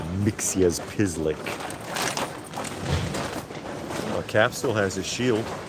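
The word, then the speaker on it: Mxyzptlk: Yes, it is pronounced Mixas Pislick.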